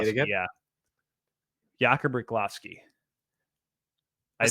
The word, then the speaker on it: Riklovsky: Jakub Riklovsky. It sounds right. I like it. Riklovsky. Because it looks like Rychlovsky, but it's not.